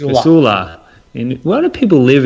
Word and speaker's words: Casula: Thank you, Thomas Craig from Coula. Casula. Casula. And why do people live in these hard to pronounce names?